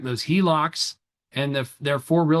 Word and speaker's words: HELOC: And things like home equity line of credits, the HELOCs, that's how you say it, it's an acronym, h e l o c, HELOC, home equity line of credit.